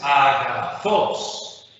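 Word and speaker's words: ἀγαθός: Agathos significa bueno. ¿El acento agudo en qué sílaba está? ¿Cuántas sílabas tiene? 3 sílabas. Por tanto, esta palabra la llamaremos, si el acento agudo está en la última sílaba. Claro, entonces aquí tenemos una palabra oxítona. La segunda palabra, ¿cómo se lee?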